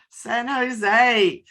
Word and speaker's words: San Jose: San Jose? Yes. Yes, San Jose.